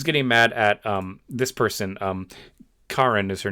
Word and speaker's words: Karen: Karen is her name. That's how it's pronounced, apparently.